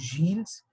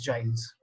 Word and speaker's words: Gilles: It is a French name. The actual French pronunciation is Gilles. You may also pronounce it as Giles.